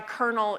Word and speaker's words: colonel: I know random things like why colonel is spelled with an L and pronounced with an R.